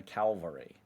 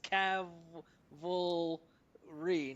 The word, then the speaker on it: cavalry: Well, people will say send in the Calvary. yeah. Okay. I thought the mispronunciation was just because like we're all like kind of partly dyslexic or something. Oh, that could be part of it for sure. But I mean, it clearly says Cav-uhl-ree, not Calvary.